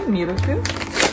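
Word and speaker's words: ミルク: They say like the English derived way, miruku.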